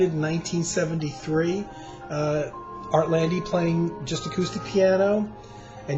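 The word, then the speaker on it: Art Lande: I thought it was Artland, silent E, but it's Artlandy with the E.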